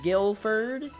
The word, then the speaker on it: Guilford: I'm guessing this is pronounced Guilford. Guilford. It's Guilford. In Guilford, only white Christmas lights are allowed for That display.